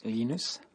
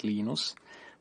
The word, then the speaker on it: Linus: i speak swedish it's venus when i speak finnish it's linos when i speak english it's linus and i really don't